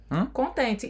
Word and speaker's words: content: E para um homem, a pronúncia é como se terminasse no som on. Nem o T se fala, né?